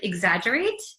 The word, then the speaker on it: exaggerate: it again exagerate it looks like it's hard to um pronounced because there's an X there's two G's it's kind of a mess but it's exaggerate exaggerate okay so do